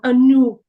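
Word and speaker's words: Anoop: e so stti uh for the longer vowel sounds usually we would have two vowels together like a double e n e i double O uh so on and so forth so like the name anop you have a double O so it's an as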